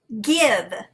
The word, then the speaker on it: give: at the exception give even though there is an e at the end of the word it is an exception to the silent e rule it is the i is a short i sound so we would mark it with a brief go ahead and color